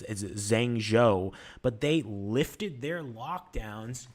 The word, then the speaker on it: Zhengzhou: I don't know how to pronounce it. It's Zhengzhou, but they lifted their lockdowns just yesterday.